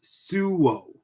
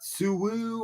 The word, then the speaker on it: Suo: So when you pronounce it, it's Suo, not Suwu or Sui or Sao. It's Suo.